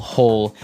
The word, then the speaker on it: hoe: if you want to make maybe a small hole in the ground you would use a spade